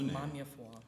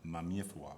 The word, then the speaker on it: Maameefua: It's almost spelled out phonetically, the way it sounds phonetically. It's like Maameefua.